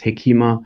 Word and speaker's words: hekima: Yes, some pronounce it hikmah there as well, others hekima. So it depends a little bit on where one is on the Swahili Coast.